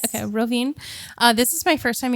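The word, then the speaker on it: Rovinj: Did I pronounce that right? Okay, Robinj.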